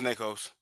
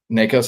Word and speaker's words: Nikos: Um, the big three schools to watch per Pete Nikos for on three or Nakos. I might be saying his name wrong, which if I am Pete, I apologize. Isn't I think it's Nikkos. Nikos.